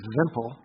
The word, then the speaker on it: wimple: There's a tradition that with every Torah scroll there would be a wimple, or pronounced in Europe a vimple, and it's after you